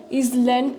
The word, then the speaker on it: island: half acre, square miles, is land country, Island. island. That yes is silent.